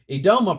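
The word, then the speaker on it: Yedoma: Edoma, pronounced Edoma, I guess that's, the Y is silent there, are hills with high proportion of ground ice.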